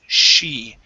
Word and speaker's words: she: all right so here give me an sh instead of c it's she she came back she